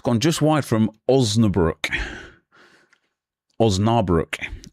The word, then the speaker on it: Osnabrück: Osnabrück. Or is it Osna? How do you pronounce a U? Broik. Osnabrück.